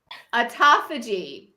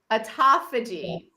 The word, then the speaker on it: autophagy: it before we got on but it's called autophagy autophagy is the name and it's spelled a-u-t-o-p-h-a-g-y autophagy and it's a it's a it's a